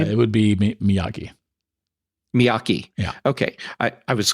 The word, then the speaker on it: Miyake: I think that's how you pronounce their name. It would be Miyake.